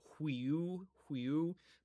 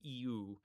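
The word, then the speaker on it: υἱοῦ: or if you're watching, if you're using the pronunciation, the Erasmian pronunciation, you would say huiu, but in modern Greek pronunciation, which I find to more closely resemble the koine or the kini, we would say, then it would be EU.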